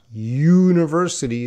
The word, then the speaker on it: university: with a vowel sound and university starts with a consonant sound so don't look at